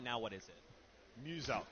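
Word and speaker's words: Muselk: Muse-Elk. So it's like Muse and Elk.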